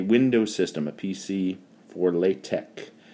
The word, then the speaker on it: LaTeX: Now, if I were using a Windows system, a PC for LaTeX, or sometimes people pronounce it LaTeX, if I were going